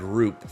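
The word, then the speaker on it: Rhoop: They went into the Dark Island, Father Mean, and defeated it, and rescued the Lord Roop from its clutches. No, I always thought this spelled.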